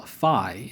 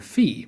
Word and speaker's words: phi: Here's the letter that we call phi in English. The lowercase version gets used quite extensively in science and math, but the capital letter is probably another that you'll only see on frat houses. Modern Greeks call this letter phi, but to the ancients,